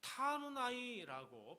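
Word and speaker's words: תחנוני: 그 다음에 간구라고 하는 건데요, 타누나이라고 발음하는데 은혜를 구하는 간청이다, 이런 뜻이 있습니다.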